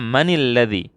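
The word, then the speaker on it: مَنِ الَّذِي: kurung kita lihat manilafiyah kalau disambung bacanya maniladzi karena kalau kita bacanya disukun Man alladzi nggak bisa bacanya maka kita sukun kaidahnya sukun ketemu sukun menjadi kasroh ini catat sukun ketemu sukun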